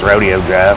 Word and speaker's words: Rodeo Drive: little air onto it want to see Rodeo Drive well that's how they pronounce it in California you know everywhere else in the world it's Rodeo Drive good afternoon Richmond how